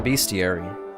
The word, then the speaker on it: bestiary: look at the the bestiary it annoys me that it is spelt bestie arey but what it really is is a bestiary it's just full of